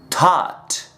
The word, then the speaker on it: taught: La pronunciación es esta: thought, taught, thought, taught. Por ejemplo, I was confused.